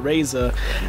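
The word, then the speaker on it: Razr: they got for the motorola razer that's by the way it's spelled r-a-z-r if you want to find out yeah motorola race cooler that way okay yeah no o's comes with a r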